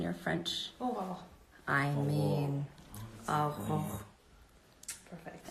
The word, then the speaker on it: Aurora: Oh, I mean, Aurora.